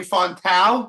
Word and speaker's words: Fontão: I have, if people don't already know, it's my friend Tony Fontão. Did I pronounce it right?